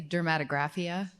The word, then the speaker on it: dermatographia: So, what's the exact pronunciation? I say dermatographia.